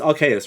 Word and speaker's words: Arceus: are chaos is it rks or is it arceus it's rks right yes yes okay yeah yeah okay i